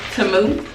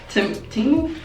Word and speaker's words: Temu: I got it from this website called, I think it's pronounced TEMU. TEMU? Whatever.